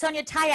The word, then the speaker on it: Sonya Tayeh: like when we were talking about how to pronounce it they were like it's sonia taya i go you guys